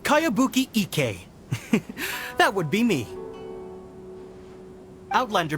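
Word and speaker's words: Kayabuki Ikkei: By Kawabunga Icky. Yoimiya, this is a really strange name. Who's this Kawabunga? It's pronounced Kayabuki Ike.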